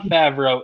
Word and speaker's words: Favreau: party farmer you know normally we're sticklers on pronunciation uh that guy's name is hard to say john favreau is correct as we move on to the